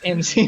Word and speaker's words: MC: Duran's Wave video, and he called me Mick. I'm like, dog, it's MC.